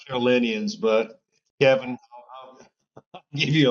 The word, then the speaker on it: Carolinians: affect many South Carolina carolinans. Is that how you say it, R? Is it Carolans? No, South Carolinians, but Kevin, I'll give you a break.